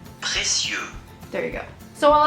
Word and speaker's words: précieux: This is actually how it's supposed to sound. Précieux.